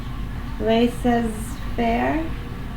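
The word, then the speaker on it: laissez-faire: Le says fair. Lei says fair.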